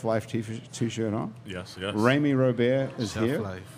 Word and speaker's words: Remy Robert: Rami Robert is Chef here, Life. whose name rhymes with Amy Snowbear, I see on.